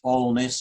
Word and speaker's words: Alness: today is um this all-ness as it's pronounced it's in an area